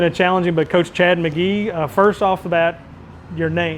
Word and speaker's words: McGehee: Yeah, it's spelled M-C-G-E-H-E-E, but it's McGee.